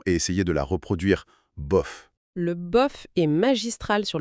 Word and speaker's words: bof: Ce petit mot de trois lettres, écoutez bien la prononciation et essayez de la reproduire. Bof.